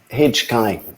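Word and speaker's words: HQAI: how do you say hkai verification and certification to national regional levels so that small csos and local ngos can access certification it's pronounced hijkai and we have a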